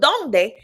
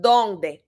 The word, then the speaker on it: dónde: So with donde, there's actually an accent on the O. All right. So donde, accent on the O.